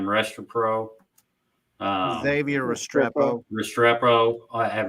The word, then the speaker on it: Restrepo: They got how do you pronounce his last name? Restrepo.